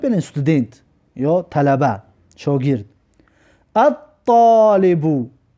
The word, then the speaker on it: الطالب: الطالبو، الطالبو ببین لام تلفظ نکردیم، برای حرف تا حرفی شمسی می باشد.